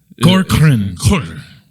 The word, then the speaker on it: Corcoran: But he was like, just say Cor and then Corcoran. Yeah. So that's how you say it. He said just blur the rest of it.